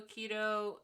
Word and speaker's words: aikido: judo, aikido, and wrestling. Yeah. Groundwork, judo and wrestling, escapes from chokes, Jiu-jitsu. judo and wrestling, and then it's called aikido, right?